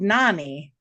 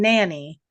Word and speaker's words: Nani: And she was called Nani. And he was saying nanny. And I said, that's because he can't pronounce it the right way.